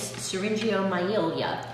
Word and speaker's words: syringomyelia: Yes, the official name is syringomyelia. Wow. I had to look up the pronunciation of that one, and I still might not have gotten it quite right, but that's what it is.